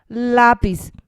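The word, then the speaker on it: lápiz: marks the two ovals lapis here you should put stress on the accent part lapis means pencil and then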